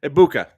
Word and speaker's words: Egbuka: G is silent, kids. I know. I just like calling him Begbu more than anything, but we don't do as many times as Perna does it, but Eggbegbu, Eggbegbu, Egbuka.